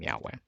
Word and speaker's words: Yahweh: by scholarship when Scholars have uncovered the correct pronunciation the name Yahweh and of course some people debate this and